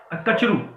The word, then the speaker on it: Kachru: कचरू, KACHRU, या bridge कचरू. Your first spelling of the name BRIDG is wrong, okay, it's bridge कचरू.